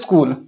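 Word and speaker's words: school: সি এইচ এর উচ্চারণ আবার চ হয়, অ্যাকচুয়ালি মেন উচ্চারণ হচ্ছে চ, কিন্তু এক্ষেত্রে এটা কয়ের মতো হয়েছে। ওকে, ডবল ও যখন থাকবে এটা হচ্ছে হর্ষ হিসাবে উচ্চারিত হবে, এলটা হচ্ছে ল, টোটালটা হচ্ছে স্কুল।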